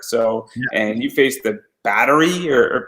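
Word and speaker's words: Bátiri: So and you faced the Battery or Batari. Batiri. I give up. Don't feel bad. I didn't know how to pronounce it either at first. It's Batiri.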